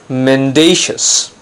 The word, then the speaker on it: mendacious: today's word of the day is mendacious notice the stress is on the second syllable it's not man - as its mendacious if it refers to a person it means dishonest untruthful deceptive for example mr.